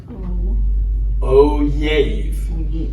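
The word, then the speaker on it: אוֹהֵב: O have. O have. See, we have a vowel below the yud, so we pronounce it ohave.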